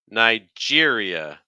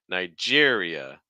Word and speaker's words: Nigeria: um our next one Nigeria stress on Jer again we're finishing with the e sound with the schw at the end so watching out for that uh uh Nigeria Nigeria okay um go also